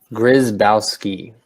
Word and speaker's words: Grzybowski: on right now so how do you pronounce your last name grazed outski where is mouse key gotcha is that French